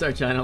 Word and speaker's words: Sargina: My name is pronounced Sargina like vagina.